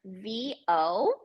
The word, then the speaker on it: vo: it's the the letters v o pronounced like you but with a v in the front so just making doing